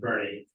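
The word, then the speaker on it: Boerne: with stay in Bernie spell burn but Texans not don't know how to talk it's pronounced Bernie and we'll be we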